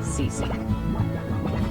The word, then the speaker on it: Cece: My name is Cece the, otherwise known as the or just Cece. I know my name is spelled like meme, but you just pronounce it CC.